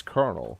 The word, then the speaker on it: colonel: It's Colonel.